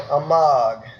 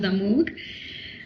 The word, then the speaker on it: Amog: you wrote about little Amog. Yeah, my son's name is Amog. I'm so glad that you can pronounce the name well, because people call him Amo.